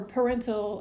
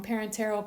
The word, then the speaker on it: parenteral: emergency major surgery well we'll cover parental I'm sorry I said it wrong parenteral controlled substances in another